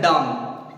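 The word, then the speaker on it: dumb: अब आगे वाला देखो, डी यू एम बी, अब इसको डम्ब नहीं बोलना है, इसको बोलना है डम, डम।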